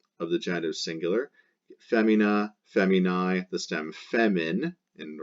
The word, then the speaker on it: feminae: So it's going to be, because of the genitive singular ending in AE pronounced I, going to be the first declension feminine. So you chop off the AE pronounced I of the genitive singular, femina, feminae, the stem femin in the rest of the nouns blanks.